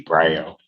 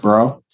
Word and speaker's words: Bro: It's pronounced Bro? Bro, like B-R-O.